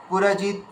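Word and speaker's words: पुरुजित्: পুরজিৎ কুন্তি ভোজ হচ্ছে পুরজিৎ, একদম ডাইরেক্ট, এটা খুব স্পিডে বলবে। পুরজিৎ পুরজিৎ পুরজিৎ, এভাবে পুরজিৎ কুন্তি ভোজশ্চ শৈব্যশ্চ নরপুঙ্গবঃ।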